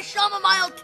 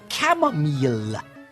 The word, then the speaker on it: chamomile: whilst I drink my shamile tea um father I believe your tea is pronounced chamomile this is an outbreak